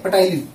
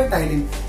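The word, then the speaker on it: ptyalin: पटाइलिन, P silent होता है, पी नहीं बोला जाता, ठीक है। तो स्पेलिंग स्टार्ट होती है पी से, बट बोला जाता है टाइलिन।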